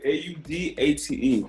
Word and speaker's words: Audate: You pronounced it 100% correctly. Audate.